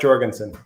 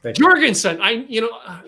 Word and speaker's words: Jorgensen: It's Jorgensen. Jorgensen.